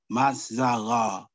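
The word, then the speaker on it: מזלות: Strong's H4208, and it's pronounced Mazzalah.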